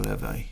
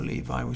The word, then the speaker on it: Levi: by a man called Primo Levi, or Levi, however you want to pronounce it.